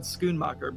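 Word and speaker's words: Schoenmaker: pronounce it because i would not have said schoonmacher but that's that's how it's pronounced well well done well done gold medal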